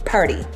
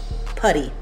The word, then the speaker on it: puri: So it is called, it's spelled puri, P-U-R-I, but it's pronounced purdy. Putty. Putty is how it's pronounced.